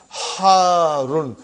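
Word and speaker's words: حارّ: Harun. Because the shadda is on ra. So you got to pronounce it properly.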